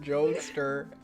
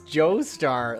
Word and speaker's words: Joestar: Joester. Joester. That one's beyond me. How do they mispronounce Joestar?